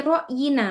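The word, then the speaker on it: رأينا: Nah, ini bacanya fi ro'yina.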